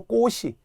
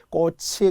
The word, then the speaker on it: 꽃이: 하는 분들이 엄청 많아요 심지어는 꼬치도 꽃이 꽃이 예쁘다 와 정말 충격적인 발음이에요 우리 국가적으로는 꽃이 예쁘지 요 꽃을 샀어요 절대 안 돼요 연이니 치급 받침이 그대로 올라가야 되거든요 꽃이 꽃을 마찬가지로 글도 겹받침의